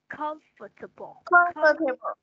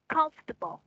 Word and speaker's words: comfortable: không phải con for nha, ở đây là chữ o nhưng mà mình sẽ đọc là âm ơ nha. Comfortable. Ừ, cái âm này đọc nhanh lên. Comfortable.